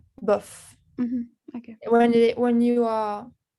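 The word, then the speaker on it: bof: it's pronounced? Buff? Buff.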